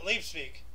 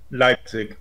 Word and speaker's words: Leipzig: same time Fran Schubert's Misa solomoness premiered in leave speak or I can't pronounce that um Leipzig Leipzig yeah yeah uh asusion fell to